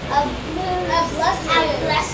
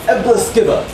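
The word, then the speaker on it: æbleskiver: Ablestu. Ablestu? And interestingly enough, there's a schwa at the very end. So you thought you were done, but you're actually not. It's Ebleskiva. Ebleskiva. It's weird, and it's Ebleskiva.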